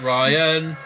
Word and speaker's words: Rian: Ryan. We all called him Rian at first because that's the way it's spelled.